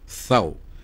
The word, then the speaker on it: tau: sa Hebrew alphabet ang letter tau, THAU, pronounced thaw.